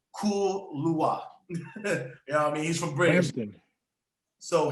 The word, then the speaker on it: Kaluuya: played by the great Daniel, how do you pronounce his name? Kaluuya.